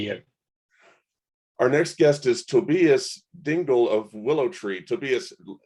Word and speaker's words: Tobias Dengel: glad to be here our next guest is tobias dingle of willow tree to be tell me if i'm not pronouncing that right you got it um thanks